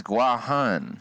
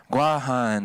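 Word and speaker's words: Guåhan: like that gifts well technically that's like the way the white people pronounced it and that's why it's called guam the orig the origination of it sounds racist the origination of it is guajan see but then the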